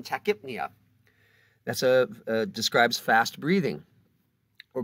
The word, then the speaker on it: tachypnea: Of course, the P may or may not be pronounced depending on the word, as in tachypnea.